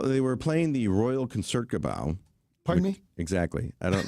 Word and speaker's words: Concertgebouw: It's pronounced Concertgebouw.